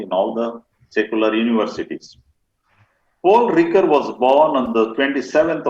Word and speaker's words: Paul Ricoeur: you like it it is uh to be pronounced correctly it is paul ricker rico you are see you are poor ricker what is the name paul ricker paul ricker ricker yes it is paul ricker